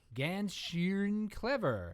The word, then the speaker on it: Ganz Schön Clever: Ganz, Schön, Clever.